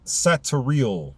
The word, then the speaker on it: Satariel: 13 would be Satariel, meaning S-A-T-A, or spelled S-A-T-A-R-I-E-L.